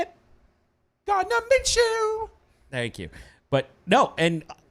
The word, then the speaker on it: Gardner Minshew: Gardner Minshew.